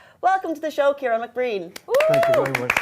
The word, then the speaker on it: Ciaran: My wife calls me many names, but she generally gets the pronunciation right. But the priest at my wedding day called me. So I get, I get Ciaran, I get, I get many different